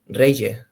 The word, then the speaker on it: Reilhé: Uh today we are going to interview Jan Ernnandez Re. It's spelled like that. Re you pronounce?